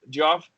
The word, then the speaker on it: Geoff: What's the guy's name? Geoff Johns? Yeah, Jeff Johns. Oh yeah. What's Which it? one? It's just Jeff, but it's spelled weird.